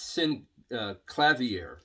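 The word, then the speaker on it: Synclavier: autoharp organ and synthesizer no it's not synthesizer in is sin clavier please forgive me I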